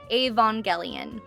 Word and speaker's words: Evangelion: So I was told directly that it's Avongelian like Avon lady. It's Avangelian.